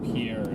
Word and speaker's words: Pierre: Oh no, the one in Pierre is 47. Wait, does someone say tuna on pizza? It's It's It's pronounced pier. Ah. Pier Pier. Okay. Pier, South Dakota.